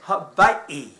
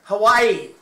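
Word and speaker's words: Hawaiʻi: I know you there's a difference between Hawaii and habi. Yeah. Am I right? Yes. You need to pronounce it. Do not act like a mainlander where you go like Hawaii.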